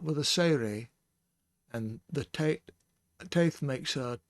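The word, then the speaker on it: טית: And notice I said Taith and not Tate. The Tau here has no dagish, so it will be the aspirant sound, th.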